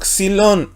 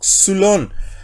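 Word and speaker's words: ξύλον: ¿Por qué digo xilón y no xulón? Aquí tenemos la letra xi, que equivale a ¿qué? A la X. Y luego tenemos la Y. ¿Pero qué dijimos? Que la Y antecedida de consonante pasa a ser Y. Tenemos una lambda que es L, una omicron que es O y una ni que es N. Así que sería xilón.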